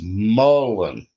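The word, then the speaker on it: mullein: Correct pronunciation is mullen according to Google.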